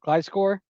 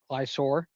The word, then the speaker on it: Gliscor: You got Gliscor, because now we all know it's not Glisor.